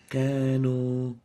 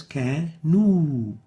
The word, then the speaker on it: كانوا: An example of that mistake is كانوا, كانوا, while we should pronounce it as كانوا, not O.